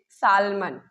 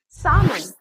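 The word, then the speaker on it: salmon: सालमन बट इट्स नॉट सालमन। इट्स सालन। सालमन जो एल है इसमें वो साइलेंट होता है।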